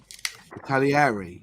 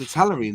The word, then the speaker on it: Italeri: Italieri that's not how you say it. It's Italery now isn't it?